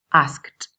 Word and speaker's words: asked: Luego algunos toman el sonido t, como ask, asked.